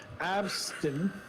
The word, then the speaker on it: absinthe: Huh, this is radioactive absinthe. How do you pronounce that? Absent. Absence? Absent. Absinthe? There you go.